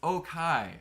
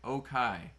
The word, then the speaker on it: Okai: It's Okai. Okai. That's how you pronounce it.